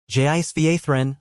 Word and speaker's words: Jisva: Jisva, Lisha said slowly. Emphasize the second syllable. Jisva friend.